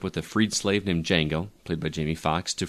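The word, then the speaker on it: Django: Tarantino film which is D Jango Unchained this is actually is silent thank you Justin the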